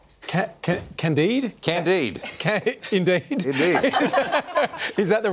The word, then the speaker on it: Candide: Candide. Indeed. Indeed. Is that the right pronunciation?